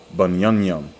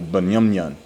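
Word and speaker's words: בנימין: All right, now this is how you pronounce it in the Hebrew, Bunyamyam. It's like your Bunyamyan.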